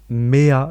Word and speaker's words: Mea: Moi, je vais mettre une chanson de Mea, je sais pas comment ça s'écrit, enfin ça se prononce M-E-A, Mhm.